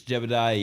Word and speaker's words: Jebidiyah: if you gotta like look up how to spell it, it's Jebediah spelt wrong. It's like a YAH. It's Jebediah.